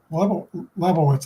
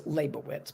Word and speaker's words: Leibowitz: And then down below, all the way from Seattle, we have another guest, Labowitz. Did I pronounce that correctly? Actually, it's Leibowitz, but that's okay.